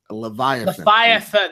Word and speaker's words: Leviathan: Leviathan.